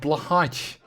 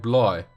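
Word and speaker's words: Blåhaj: Yeah, I was about to say, just before Duvel said that, if I was gonna go Swedish, it would probably be like Bloy.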